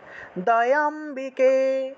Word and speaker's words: दयाम्बिके: दामा दत्तानन्दोदयाम्बिके दत्तानन्द दयाम्बिके দয়ে অম্বিকে আলাদা বলা যাবে না, একসাথে দয়াম্বিকে দয়াম্বিকে দত্তানন্দ দয়াম্বিকে বলেন। दत्तानन्द दयाम्बिके দয়াম্বিকে দয়াম্বিকে, অর্থাৎ দয়ে এবং অম্বিকে দুটো তো একই শব্দ, একসাথে উচ্চারণ করতে হবে, এটা হলো লুপ্ত অ,